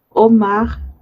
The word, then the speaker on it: homard: Tenemos écrevisse, langouste, étrie, araignée de mer, crevette, homard, crabe, langoustine. Este se pronuncia como Omar, la D no suena.